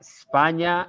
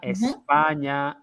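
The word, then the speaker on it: España: we move on that spania espana espana okay i am if i am from spain we have to pronounce the initial e okay i am from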